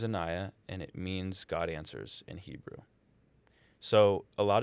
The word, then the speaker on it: ANSWRS: Answers. Answers. And it's spelled without an E. So it's ANSWRS.